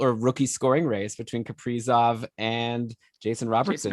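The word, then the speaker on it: Kaprizov: ben even called us out for saying that name wrong it's caprizov well actually you got called out for pronouncing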